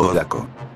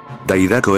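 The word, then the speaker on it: 大ダコ: Alternativamente escrito Odaco. Este simplemente significa pulpo gigante. Daidako es un apodo mal traducido, usando la pronunciación alternativa Dai del Kanji.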